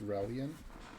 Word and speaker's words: Relian: Just for the record, it's Relian.